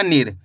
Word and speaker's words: नीर: न में छोटी इ की मात्रा नी और र मिलके बन जाएगा नीर।